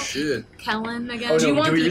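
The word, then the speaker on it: Caithlenn: It's pronounced Kellen? Yeah, it's pronounced Kellen. K Kellen of the Crooked Teeth. And if I spelled it that way, I would always pronounce it Kethlin.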